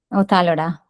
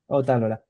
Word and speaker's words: Ot'alora: How do you pronounce? Ot'alora. Ot'alora.